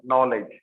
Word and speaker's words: knowledge: So we are using C there, and sometimes we are using K, okay, okay, and sometimes K is silent, knowledge.